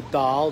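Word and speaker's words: Dáil: That's what they call it, the Dail. It's spelled D-A-I-L.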